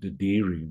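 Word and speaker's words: dadirri: Aboriginal uh language here there's a word called deiri which I don't know whether you've come across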